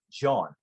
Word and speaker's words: Jean: It's like John is kind of how they would pronounce it. And like there was somebody I talked to over in England when I was performing there, and they saw his name and they said Jean Goldkette, and it's kind of